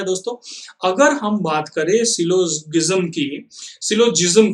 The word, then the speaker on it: syllogism: इसको प्रोनाउंस कैसे करते हैं, इसको करते हैं सिलोजिज्म, राइट।